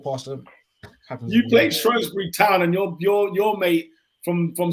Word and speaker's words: Shrewsbury: Come on, it spells Shrewsbury, pronounced Shrewsbury. Shrewsbury.